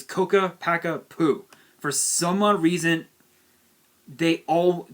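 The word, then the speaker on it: Ccapac Apu: i don't give a damn honestly but it's pronounced coca packa poo that's the proper term it's coca packa poo for some reason they all people always mispronounce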